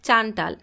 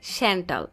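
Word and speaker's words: Chantal: জেন্ডে বলে হ্যাঁ তার নাম তো চান্টাল। জেকব বলে না স্যার উচ্চারণ হবে স্যান্টাল। ঝেন্ডে জোরে হেসে দিলেও গম্ভীর জেকব সেভাবেই তাকিয়ে থাকে।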